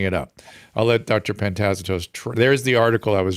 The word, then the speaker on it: Pantazatos: Yeah, Pantazatos.